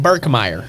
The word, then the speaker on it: Birkmire: Birkmire. Birkmire. Yep. That's nice. I've heard a lot of different, pronunciations. Birkmire. The mire of Birk.